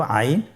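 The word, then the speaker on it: عين: এর মধ্যে একটি হরফ হল আইন। আইন হরফটি উচ্চারণের সময় অবশ্যই তিন আলিফ টেনে পড়তে হবে। এখন আইন হরফটি বারিক হরফ। পাতলা করে পড়তে হবে।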